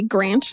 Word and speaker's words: Granch: I want you to be Granch, like ranch, Yeah, I'm Granch.